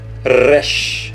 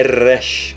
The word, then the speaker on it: Resh: Resh, lembre-se que não é Resh, porque não é rei. Aqui é Resh, com o R bem puxado, Resh, tá?